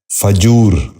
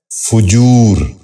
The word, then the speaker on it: فجور: غور سے سنیے، فجر۔ آٹھواں لفظ ہے فجور۔ یہ غلط تلفظ ہے، درست تلفظ ہے فجور۔ دوبارہ سنیے، فجور۔ بچوں آپ بھی غور سے سنیے، فجور۔ نواں لفظ ہے فحش۔